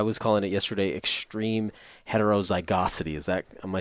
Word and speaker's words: heterozygosity: And this quality, I was calling it yesterday, extreme heterozygosity.